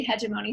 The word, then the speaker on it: hegemony: And this is pronounced in a couple of different ways, but I typically say hegemony. Sometimes I go back and forth.